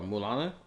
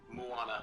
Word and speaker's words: Moana: Oh, Mulana. Mulana. Oh, man. I can't pronounce that thing. Worth a damn Moana.